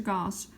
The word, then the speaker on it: Gauss: an exclusive interview with Professor Gauss rhymes with house he revealed the secrets